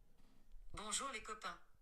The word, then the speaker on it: bonjour les copains: Bonjour les copains. Bonjour les copains. Alright, so Tortu, appreciate the super chat. Bonjour les copains.